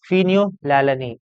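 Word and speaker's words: phenylalanine: Okay, अब ये दोनों चीजें हैं क्या, this are amino acids, amino acids, Eleusine and फिनियोलैलानिन, इसको यही प्रोनाउंस करते हैं।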